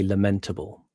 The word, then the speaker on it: lamentable: people get wrong is they say lamentable. The actual pronunciation is lamentable. Lamentable. Yeah, you have lamentation and you have lament. I see I did it there. Lamentation, lamentable, not lamentable. Stress on the first syllable in English generally speaking is a rule.